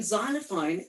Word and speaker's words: xylophone: wrong it's xylophone and in xylophone the letter x makes the sound like in anxiety so when i know